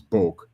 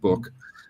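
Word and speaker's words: Book: By the way, that's the pronounce pronunciation. It's it's Boke, not not Boke as as some might be prepared to do that.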